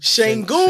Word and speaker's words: Şengün: Şengün.